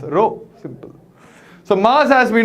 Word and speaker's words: rho: as rho rho okay spell is rho and it's pronounced as row simple so mass as